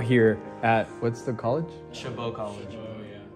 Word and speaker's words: Chabot: at what's the college chabot college chabot community college with the boys yeah silent t it's c-h-a-b-o-t chabot i'm the boy we're